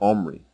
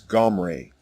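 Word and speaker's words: עמרי: It is not an E vowel as in the version Omri. The correct way to say the king's name is Gomre.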